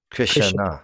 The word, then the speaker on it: Krishna: better with the music, they're okay with you saying Krishna. Krishna. Krishna. Like three syllables instead of Krishna.